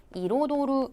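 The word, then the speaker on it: 彩る: 좀 한번 확인하고 가실게요 뒤에 어미 르 붙여서 요거 발음 어떻게 하냐면 이로도루 아고 읽죠 그래서 로도로라다 되겠고 한자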